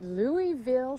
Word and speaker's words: Louisville: at this week peaches we are at the Louisville South Carroll a holiday it actually beaches the locals pronounce it Louisville oh well I'm not a